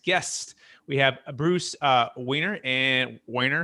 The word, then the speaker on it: Wehner: about our next guest we have bruce uh weiner and weiner how much should i pronounce that correctly wayner's correct yeah you're good and rachel rachel marshall